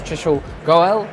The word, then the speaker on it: Trishul Goel: Welcome to this special episode of HiCash at InfoShare, and with me is Trishul Goel. I said that right? Perfectly, yeah. Oh, my pronunciation is fantastic.